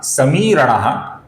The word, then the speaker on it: समीरणः: समीरणः का जो मी है ये मी भी दीर्घ है दोस्तों।